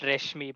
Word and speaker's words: Rashmi: they used to say reshmi or like some weird pronunciations they never got my name right it's actually pronounced reshmi by the way yes